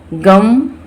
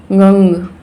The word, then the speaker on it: गं: कुछ लोग बोलते हों, मुझे तो नहीं पता है, गम और गंग, लेकिन इसको हम कैसे बोलते हैं, गंग गंग गंग। नाक से इसका प्रोनाउंसिएशन होता है।